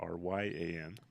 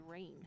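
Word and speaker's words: Rian: There's a Ryan that is spelled R-I-A-N instead of R-Y-A-N. Oh, that's the one we always thought was rain. Yeah, But it's just Ryan.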